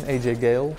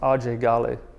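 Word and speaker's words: Ajay Ghale: So just his name, AJ Gale, gets him in trouble. Even to the point that his whole life he's called himself AJ Gale, right? But his name is actually pronounced RJ Gale.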